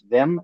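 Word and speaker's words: Veym: Yeah, it a lot of people say Vam. Um I didn't actually put a pronunciation in there. To my internally, it's uh it's Vam.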